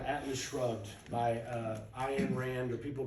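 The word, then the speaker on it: Ayn Rand: to a book called Atlas Shrugged by uh I am Rand or people pronounce her name Ann Rand um and uh I highly recommend it to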